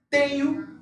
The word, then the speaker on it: tenho: La pronunciación, chicos, de la NH es muy parecida, igualita a la ñ del español. ¿Ok? Entonces la pronunciación de NH es igualita a la pronunciación de la ñ.